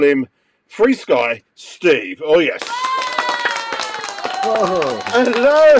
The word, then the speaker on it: FrSky: to know now I've already read it as F sky so capital F and the little r f r sky but you're saying it's free Sky why is why is it pronounced free Sky okay that was actually one of the first